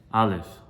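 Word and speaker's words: א: Aleph, very soft, very easy to say.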